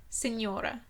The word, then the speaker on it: Signora: No, you don't pronounce the G. Signora.